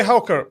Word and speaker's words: Haukur: Can you pronounce your name for me so I don't do a mistake pronouncing your name? It's Herk. Her hur. Yeah. Her. Okay. Okay. Hulker.